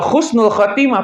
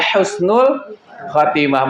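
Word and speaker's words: حسن الخاتمة: Kalau husnul khatimah pakai kho, itu artinya jauh, ya. Istilahnya itu al-azil ba'dal iz. Artinya hinanya sesuatu yang sebelumnya mulia. Kalau pakai huruf kho, ya. Makanya pengucapannya harus betul, harus ha, ya, husnul khatimah.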